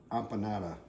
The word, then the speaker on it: empanada: tell my thumbnails to make some kind of Empanada that's how you say it uh and we're